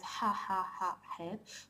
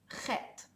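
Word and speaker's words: חית: And in the modern Hebrew language, the het is not pronounced as ha het, but it's pronounced as chet.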